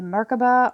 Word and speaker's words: merkabah: this or something better we got the merkabah or merkaba it's pronounced both ways the frequency of the